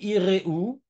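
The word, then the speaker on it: יראו: On dit Iréou, parce que c'est un chirik gadol, et donc il faut maintenant prononcer le E, Iréou.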